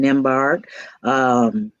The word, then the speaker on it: Nembhard: Jessica Gordon Nembhard, silent B there.